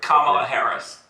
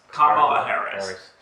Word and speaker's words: Kamala Harris: We were talking about Donald Trump, Barack Obama, and what is the pronunciation of I forgot. Carmila, I forgot her. Kamala Harris. Kamala Harris.